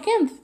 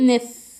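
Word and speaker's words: knife: الكلمه عامدا معناها سكينه معناها سكين طيب هو ماتنطقش ليه لان هو كانف يبقى يبقى انا هنا نطقته نف تقريبا الي في اول الكلام لا ينطق يعني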